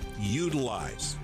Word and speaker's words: Yoodlize: for your DIY project, Utilize. Now, it's spelled different. Yoodlize.